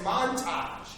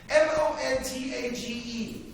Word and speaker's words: montage: You can have a sound effects montage. M-O-N-T-A-G-E. Is that it? Shit, I don't know if I pronounced it. I spelled it right. It's one of those French words. You never know about those French.